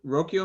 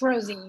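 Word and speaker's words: Rocío: Is it Rokio? I'm not sure I pronounced the first name wrong. Right. I apologize. Hi, it's Rocio. It's Rosie.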